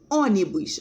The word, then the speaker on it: ônibus: muda come ônibus lápis olha aí a sílaba tônica não é a última ônibus a gente divide em três ó ônibus é proparoxítona antepenúltima que é a mais forte e em lápis